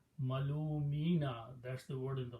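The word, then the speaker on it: مَلُومِينَ: And in order to pronounce, you put a kasra under mim instead of dhamma. So kasra and ya sound go together. So it became malumina.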